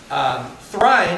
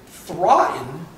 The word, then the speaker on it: Thráin: Thráin is the Appendix E kind of pronunciation of the A, and not a diphthong. Thráin and Thráin and Thráin are obviously the Appendix E taken completely literally, right? Because the I is in machine, right?